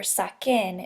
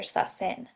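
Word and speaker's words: saquen: And as a reminder, the reason we do that is so we can maintain the hard C sound. So it's sake or saken instead of sase or sasen.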